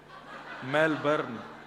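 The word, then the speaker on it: Melbourne: मेलबर्न मैंने कहा नहीं मेलबर्न र जो है वह साइलेंट बोलो तो लेकिन हुआ क्या यहां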